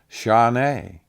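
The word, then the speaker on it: שָׁנָה: It's Strong's number 8141, and it's pronounced shaneh.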